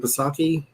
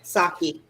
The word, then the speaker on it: Psaki: Press secretary Jen, I don't know how to say her last name, Psaki? P-S-A-K-E. Mm-hmm. Saki. I think the P is silent, if I remember correctly.